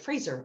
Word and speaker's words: Fraser: Fraser.